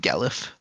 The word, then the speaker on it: Gallif: Legate Gallif. Gallif as in gallivant, brave, valiant, Yeah.